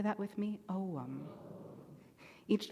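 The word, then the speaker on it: ogham: today is spelled o g h m and pronounced ow can you say that with me om each letter of the omam alphabet is connected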